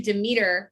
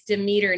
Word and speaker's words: Demeter: and we're gonna do demeter we looked it up it's demeter not demeter i was saying it wrong um and she is